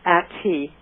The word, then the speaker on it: Attie: It's Attie, as in at coffee.